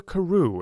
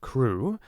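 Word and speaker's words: Crewe: difference in the name madame pascal pronounced it as if it were carew instead of crew but that might be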